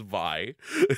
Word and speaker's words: Vi: And I did see a long discussion on a forum about the pronunciation. It is Vi.